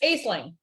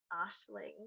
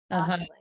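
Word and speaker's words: Aisling: would look at that and go oh it's Asing but it's probably not right how to pronounce here and so here's this on YouTube how to pronounce yeah Ashling ashing Ashling okay yeah we had I would say like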